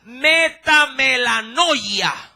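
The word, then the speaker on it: μετάνοια: la podría asociar con arrepentimiento y esta se pronuncia metanoia la pronuncio nuevamente metam mamelo sí la de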